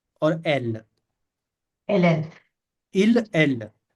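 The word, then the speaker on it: elle: के दिखा यहां पर पहले ठीक है इसको प्रोनाउंस करेंगे इल और एल एल एल इल एल हां इल एल हां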